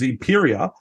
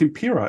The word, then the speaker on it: Empiraa: But the funny thing was I kept saying it wrong because everyone's like, I kept thinking it was Empiraa because I was thinking Imperial, like Star Wars, and everyone's gone, no, it's Empiraa.